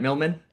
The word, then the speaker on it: Millman: I have another Milman. That's your that's that's the correct way to pronounce it, right? Milman.